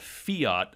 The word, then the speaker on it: fiat: So basically, our currency is based on a currency called fiat money currency. Like the car. Like the car, you pronounce it the same way.